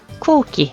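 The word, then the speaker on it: 空気: 모음 우와 우가 왔을 때 우우 쿠우끼 라고 발음하지 않고 쿠우끼 해서 장음 발음해 준다라는 거. 자, 이것도 마찬가지죠. 스지 숫자라는 표현이고요. 쯔가 라고 해서 통과 라는 뜻이죠. 자, 한자 한번 써보도록 할게요. 그래서 공기, 쿠기, 그죠?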